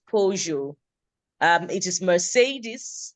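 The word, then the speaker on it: Peugeot: I believe it's pojo it's not an English word it's a name of a car manufacturer I don't know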